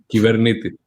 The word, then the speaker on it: Kubernetes: What's the correct pronunciation of Kubernetes? Kubernetes.